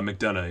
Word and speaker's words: McDonough: Well, Matt, we appreciate you being here, and I think your last name's McDonough, is that? Yeah, McDonough, yeah. McDonough, okay. Yeah. I don't pronounce anybody's name right, so please don't be offended.